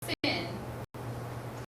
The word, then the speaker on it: syn: good now this is a prefix sin it's pronounced sin anybody know what that